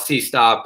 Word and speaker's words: CSOTP: So we call it CSOTP. We call it C-Stop.